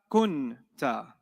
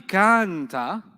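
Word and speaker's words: كنتَ: So it'll be anta kunta. It's not going to be kanta. It's going to be what? Kunta.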